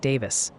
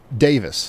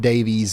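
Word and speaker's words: Daviess: County, where Owensboro is, is pronounced like Davis. They're just trying to help you sound like a local, y'all. Okay. All right. I I think I'll remember that. Uh, it's Davis, not Davies or nothing like that.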